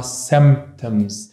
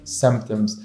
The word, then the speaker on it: symptoms: زيه زي أي مرض تاني في الدنيا، هذا المرض له symptoms اللي هي أعراض، وأيضا الكلمة بنفع أنك تلفظها symptoms، تلفظ الـ P شوي مشددة أو تلفظها خفيف symptoms. symptoms تبعون هذا المرض هم